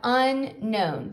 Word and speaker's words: unknown: word is unknown now keep in mind this that k is a silent k so we have unknown to know something means